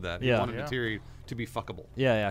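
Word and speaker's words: Neytiri: Natiri. Yes, Russ. Can you make him feel... Wait. That's how it's pronounced in Avatar.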